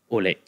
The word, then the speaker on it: Aouilk: I want to welcome to you, Aouilk. Hi. Did I pronounce that right? You pronounce it the Indian way. I just say Aouilk, yeah.